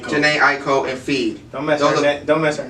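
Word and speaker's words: Jhené Aiko: Janae Aiko. Janae Aiko and Feed.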